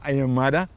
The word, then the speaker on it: Aymara: mesmo ponto de lá, o Aimará o Aymara, como eles pronunciam lá, Aymara, falam mais ou menos